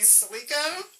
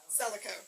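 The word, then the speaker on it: Celico: And just in time, please welcome Amy Slico. Did I pronounce that correctly? Selico, thank you.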